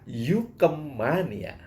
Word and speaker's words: UKM Mania: sebagai UKM Mania Hai Tapi bacanya Yuke Mania setuju aja ya nah